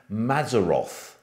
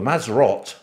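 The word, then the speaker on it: Mazzaroth: as something called the mazaroth now the mazaroth or the maserat i should say better pronounced is a hebrew word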